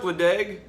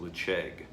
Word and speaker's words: Ledaig: So it looks like Ledaig, but I Googled it and I believe it's pronounced Ledaig.